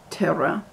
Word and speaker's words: Torah: when the jews learn torah which you pronounce as terah we create the light